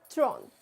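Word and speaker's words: trente: 30 is called thron. See it is following the same English right but the pronunciation is way different right? So although it is written in English the alphabets are English but the pronunciation is very different from English right.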